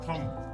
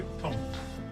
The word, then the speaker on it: thumb: थंब, THUMB, थंब। इसमें ध्यान रखना B इज साइलेंट, तो हम इसको क्या पढ़ेंगे? थंब। थंब, B का साउंड नहीं आएगा।